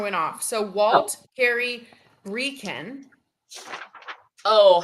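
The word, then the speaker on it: Brekeen: So Walt Carey Breeken. Oh, how do you spell that last name?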